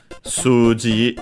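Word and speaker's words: 数字: and is also just like ki uh suji is also unacented.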